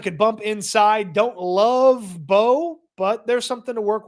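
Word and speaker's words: Mbow: Marcus Bowe, the M is silent, I found out, as I was calling him Imbo, and people were like, what are you saying?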